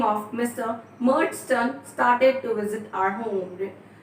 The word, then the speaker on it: Murdstone: Murdstone started to visit our home. Just be careful with the pronunciation. It's Murdstone, right?